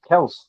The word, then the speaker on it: Kelce: And then the next game, how they pronounce it. It's Kels.